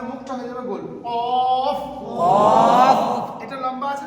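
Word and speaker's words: ك: হয়ে যাবে goal of কফ এটা লম্বা আছে না আমাদের মুখটা হয়ে যাবে লম্বা কাফ কাফ এর আওয়াজ হবে পাতলা এর আওয়াজ হবে মোটা এইটাকে যখন আমরা পার্থক্য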